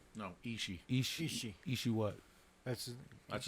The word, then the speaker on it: Ishii: Tahishi. No, Ishii.